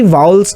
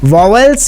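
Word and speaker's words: vowels: में आनी चाहिए कि वाउल्स क्या होते हैं, कॉन्सोनेंट क्या होते हैं। इसका आपको एग्जैक्ट प्रोनाउंसिएशन भी आना चाहिए डियर। इसको हम वावेल्स नहीं बोलेंगे, इसको हम बोलेंगे वाउल्स। क्या बोलेंगे? वाउल्स।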